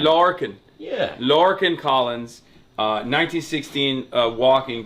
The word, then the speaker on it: Lorcan: We gotta introduce you, Lorcan Collins. Am I saying it right? Yeah, that's right. That'll do me. How would I say it? No, I want to say Lorcan is fine. Lorcan.